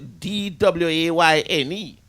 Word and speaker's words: Dwayne: You spell your name different, Bones. But he pronounced the same way. Pronounced the same way. Dwayne is, his name is pronounced the D-W-A-Y-N-E.